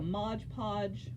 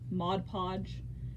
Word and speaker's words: Mod Podge: sealer I can get like a modge podge Mod Podge I will always mispronounce that word or any other kind